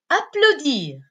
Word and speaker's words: applaudir: Le cinquième verbe, c'est le verbe applaudir. Applaudir, qui se termine avec IR. IR, qui se prononce ir.